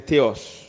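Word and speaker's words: θεός: Premier, c'est théos. Théos. Qui signifie Dieu, ça s'écrit T-H-E-O-S, et logos, qui signifie étude.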